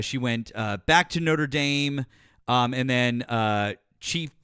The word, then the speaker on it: Notre Dame: And yes, it in in France is pronounced Notradam, but in America they call it Notre Dame.